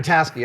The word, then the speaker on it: Vrataski: Rita I'm glad you're pronouncing Vrataski. it. Yeah. Vrataski.